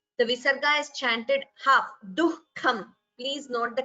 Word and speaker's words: दुःखम्: The visarga after du also should be heard. So it is dukkham.